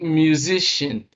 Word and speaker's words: musician: A word like musician.